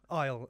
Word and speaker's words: IL: We say it's pronounced Isle, like Isle of Man or something like just Isle. Okay, because between me and my colleagues, it was either IL or ill.